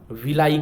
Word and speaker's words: villi: इसको हम विलाई कहते हैं। क्या कहते हैं? इसको हम विली कहते हैं। विली कहिए, विलाई कहिए, ठीक है। हिंदी में विलाई, बिल्ली नहीं, कैट नहीं, विलाई, विलाई, VILLI इसका स्पेलिंग है, ठीक है।